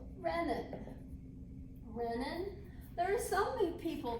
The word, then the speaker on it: renin: the adrenal glands and so this hormone it's pronounced random renin there are so many people that pronounce it readin I've heard reven more than I've ever heard